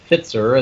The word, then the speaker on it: Pfitzer: correct you by saying my last name is pronounced it sir Fitzer and that spelled P as in Paul f as in Frank I T zer I only fits fit sir all right you might